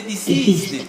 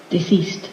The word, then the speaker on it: deceased: refer to me as not the disease no but this is at the end get this one deceased and there is a